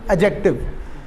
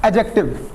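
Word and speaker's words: adjective: यह बात अंडरस्टैंड है एडजेक्टिव मैंने एड नहीं बोला बीच में साइलेंट है एडजेक्टिव नो प्रॉब्लम क्या है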